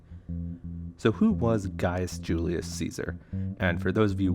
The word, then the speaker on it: Caesar: who was guys julius caesar and for those of you wondering gaius was actually his first name and julius was his family name caesar which would actually be pronounced kaisar in latin was his cognomin essentially